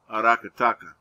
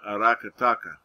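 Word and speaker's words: Aracataca: lower right you see i don't know how it's pronounced i don't see a tilde so it should be arakataka was that was the birthplace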